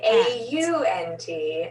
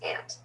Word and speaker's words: aunt: ant and i mean a-u-n-t unless you're on the east coast standard the standard is ant if you say aunt we'll know what you mean but we'll think oh aunt huh what are we english